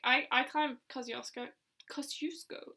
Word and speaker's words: Kosciuszko: Kosciuszko is apparently how it's meant to be pronounced. Everyone says Kosciuszko.